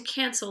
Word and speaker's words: cancel: I don't want to cancel this training that the emphasis there is on the can it's on the first syllable and I know that